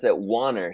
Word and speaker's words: Wanner: I pronounce it Wanner, so it rhymes with honor, but I always say